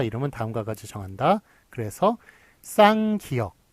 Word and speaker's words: 쌍기역: 이거를 끼역, 예, 끼역이라고 읽더라고요. 그래서 유재석한테 무식하다고 면박을 당하고 그랬던 게 기억이 나는데요. 어쨌든, 예, 끼역이 아니라 쌍기역이라고 읽는다는 것, 예, 그것도 알아두시기 바랍니다.